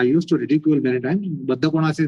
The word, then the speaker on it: Baddha Konasana: Baddha Konasana is not a bad Konasana. But they would pronounce it as bad Konasana.